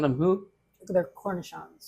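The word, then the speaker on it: cornichons: pickles so and you called them who they're cornon cornishon I'm not going to have you spell that c r n i c h o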